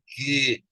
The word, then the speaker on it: qigong: And so the gong, we just hold the belly and qigong, it's pronounced qigong. Tongue goes straight ahead. It's more of a neutral tongue position.